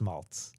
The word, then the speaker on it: Maltz: So So it's malt. It's pronounced malts. malts. There you go. Okay. Spelled Maltz. I would call it a Z, but out here they call it a Z. That's right. Fine. Z at the end or Z, whatever.